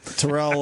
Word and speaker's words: Terrell: Terrell Owen yelled at us for not pronouncing his name properly. Well, it's Terrell. Who did? Terrell.